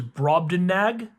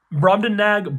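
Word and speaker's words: Brobdingnag: I wonder if that second G is silent. So, it's broadbenag like nagging because like gn can be silent g sometimes like nat like the little flies. Broden nag.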